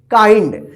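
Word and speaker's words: kind: डी इसको क्या पढ़ेंगे किंड नहीं पढ़ेंगे क्या पढ़ेंगे काइंड ध्यान रखिएगा आई के बाद लास्ट में एनडी रहता है तो यहां पर आई उच्चारण होगा क्या होगा आई उ उच्चारण होगा ठीक है ना तो इसको क्या पढ़ेंगे के आई एन डी इसको क्या पढ़ेंगे काइंड इसको किंड मत पढ़िए किंड गलत हो जाएगा ठीक है देखिए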